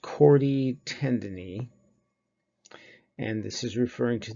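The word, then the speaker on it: chordae tendineae: of it okay these this is pronounced chord e tendon E and this is referring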